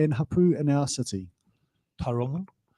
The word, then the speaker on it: Tauranga: Tauranga. I used to say Tauranga when I was at school. That was terrible pronunciation.